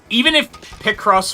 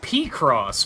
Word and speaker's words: Picross: See, the funny thing is, even if Picross was wrong, Nice car. the correct way would be P-Cross, because that's how Japanese would pronounce it. So Picross is still wrong.